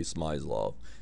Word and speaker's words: Smyslov: the world champion and vasili smlo or some people say smlo and it was played